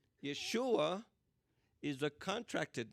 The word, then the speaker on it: Yeshua: period by the way never use yahshua or i don't know where all these guys are coming up with all these strange pronunciation yahshua yahshua never appears in scripture at all you never see this pronunciation but in nehemiah 8